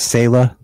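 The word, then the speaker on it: Selah: My daughter's name is Sayla. Spell it. S-E-L-A-H.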